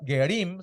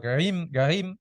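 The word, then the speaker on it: גרים: Alguien que provenía de la gentilidad, gerim, se dice en plural, o gerim, se dice, o se trata de pronunciar de esa manera.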